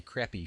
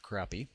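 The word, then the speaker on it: crappie: And right at the top here is um well I want to say crappy fishing tips, but I'm pretty sure that's pronounced crappy.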